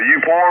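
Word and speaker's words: Eupora: wow over there in euphora Mississippi is that a qsl TSL my friend yeah you poor Mississippi you're the first one that's pronounced it correctly outstanding man outstanding you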